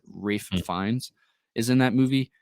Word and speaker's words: Ralph: spider it's ra uh I think you say his name is Rafe I think it's how you pronounce it Rafe fines is in that